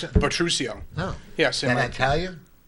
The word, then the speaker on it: Butruccio: how do you pronounce it? Butruccio.